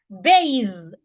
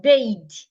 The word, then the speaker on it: bathe: smooth smoothie to see another example bathe not bade bade is b a d e bade the right pronunciation is bathe your tongue has to be in between your teeth bathe then we have